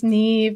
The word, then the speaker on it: Neve: My name is Neve. It rhymes with Steve. It's not spelled like it rhymes with Steve, but it in fact does.